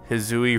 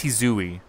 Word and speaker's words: Hisui: I bet it's Hisui. Because the eyes would be pronounced the same.